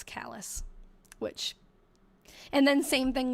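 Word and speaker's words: Calais: I have been told by I I was pronouncing it cal too because I thought, oh, it's French. Um, I've been told by people who actually live there that it's callous, which and then same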